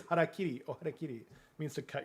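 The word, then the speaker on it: hara-kiri: Just horrible mispronunciations. Yeah. Well, that's what that is. Harakiri.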